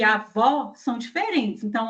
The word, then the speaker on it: avó: Então, avô média alta, avó é média baixa.